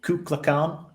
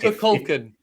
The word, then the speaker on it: Kukulkan: Kukulkan. Kukulkan is the actual pronunciation of the deity of a dead religion.